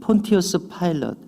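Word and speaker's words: Pontius Pilate: 영어 성경에서는 폰티어스 파일럿 이렇게 발음되는데요, 이 빌라도는 묻습니다.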